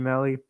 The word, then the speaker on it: Melly: Nice to meet you, Melly. Rhymes with Relly.